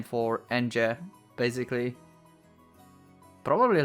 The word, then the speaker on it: Ange: would be pronouncing engine NJ I would say like that all the time because it feels so weird for me to pronounce it apparently her name is like from Angel but without l so angel but it